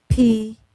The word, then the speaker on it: PFAS: for the Federal Legislative Conference, and I knew that PFAS is spelled P-F-A-S, and each letter stands for something. But everybody call it PFAS.